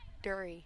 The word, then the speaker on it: Dury: but it's Dury. Dury. Rhymes with Fury, So it's a silent R.